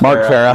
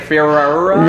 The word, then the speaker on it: Farrar: That was my biggest issue, is trying to understand, like, Mark Farah. Mark Farah. It's spelled Farrar, and if you read it, and it's like Farrar.